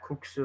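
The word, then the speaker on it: 국수: The K at the end is going to be the factor into pronouncing this word cook. So you should feel that that K sound at the end, kuksu.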